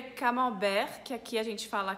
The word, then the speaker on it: camembert: Camembert tem o T no final e ele não se pronuncia.